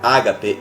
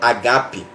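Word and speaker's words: ἀγάπη: que na verdade ele no original não é Ágape é Ágape né Essa forma certa de pronunciar só tava estudando e eu vi que toda a palavra no grill ela tem acento tudo a palavra no alfabeto grego ela é acentuada e a palavra Ágape que que a gente conheceu como o amor de Deus né o amor incondicional essa palavra na pronúncia original mesmo é Ágape Oi e aí até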